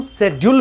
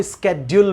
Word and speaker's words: schedule: लेकिन अगर आप इसे शेड्यूल भी पढ़ते हैं तो ये गलत नहीं होता। ये शेड्यूल भी सही है, स्केड्यूल भी सही है।